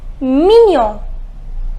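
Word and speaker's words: mignon: say it is million the pronunciation is minion minion which means cute not this one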